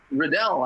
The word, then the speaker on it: Riddall: It is Riddall? Riddell, actually, yeah. It's Riddell, okay, good.